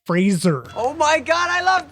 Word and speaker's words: Fraser: to call out here it's Brendan Fraser Fraser not Frasier's I will still say it wrong yeah but that's something that everybody says wrong I don't know how